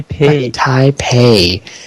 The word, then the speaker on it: Taipei: name tap hi hi taipei hey it's only the second time i forgot to pronounce it it's like the first part of your name and then pay i don't know so